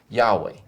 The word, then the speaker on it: Yahweh: And so from that type of a study, the scholars have concluded that the most accurate way would be to render that word, to read that word, the name of God, as Yahweh.